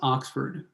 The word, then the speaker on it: OXFD: example on the right oxfd is pronounced Oxford way point points represent